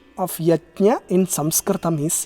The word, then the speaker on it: yajna: The pronunciation of yajna in Sanskritam is yajna. Yaj dhatu. So it is yajna. A few people, they think it has to be pronounced yagya. That is because of their mother tongue influence.